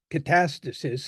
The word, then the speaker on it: catastasis: Hippocrates used the term catastasis. It can be, you can put the emphasis on either syllable, that translates into constitution.